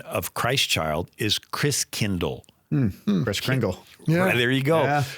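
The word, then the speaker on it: Christkindl: from the Christ child wow and the German pronunciation of Christ child is Chris Kindle Chris kingle there you go so kindergarten Kinder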